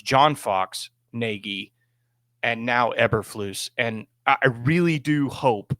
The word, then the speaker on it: Eberflus: a conspiracy behind this game but unfortunately, Coach Eberflus did not make it through the following morning. I just like to say it like it's Swedish or something like that. Like I'm the guy from Frozen. It's Eberflusy.